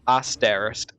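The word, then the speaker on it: Aaesterist: It's spelled A A E S T E R I S T, but it's you say it as Asterist.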